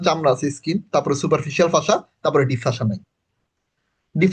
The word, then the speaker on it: fascia: ভাইয়া পাশাটা কি মানে সুপারফিশিয়াল পাশা বা ডিপ আচ্ছা আচ্ছা, ফাসাটা একটু বানানটা লিখি, FASCIA, ফাসা। ঠিক আছে, ফাসা হচ্ছে একটা কানেকটিভ টিস্যু।